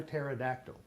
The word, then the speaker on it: pterodactyl: Bruce a live a pterodactyl I love that it's impossible you know why you can't hear a pterodactyl go to the bathroom because the P is silent but if I were